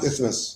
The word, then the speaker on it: isthmus: So the I, isn't it pronounced I? Isthmus?